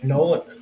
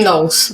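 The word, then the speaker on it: Knowles: know, I I think Nolan Jim Nolan, right? Is that how you say it? Jim. Jim Nolles. Nolles. Yeah. Jim Nullles.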